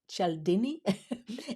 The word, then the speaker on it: Cialdini: Um, Cialdini. I even asked the Google to pronounce it for me. Cialdini.